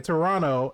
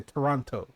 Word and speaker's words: Toronto: no one pronounces if if you pronounce the second t in toronto you know you're not from toronto yeah and when you